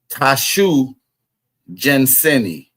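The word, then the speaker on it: Tsiyu Gansini: Dragon Canoe, pronounced Tashu Janseni.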